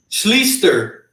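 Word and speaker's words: Schlichter: for the Colts again how do you say his name Scher almost sounds like Shuster right yeah chy yeah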